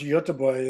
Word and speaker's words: Göteborg: I was in Stockholm, and he was in Gothenburg, pronounced Göteborg, as far as I can tell, which is about 5 hours south of Stockholm in Sweden.